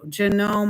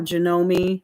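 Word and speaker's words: Janome: Genome or Genome, I've heard it pronounced both ways, is the only machine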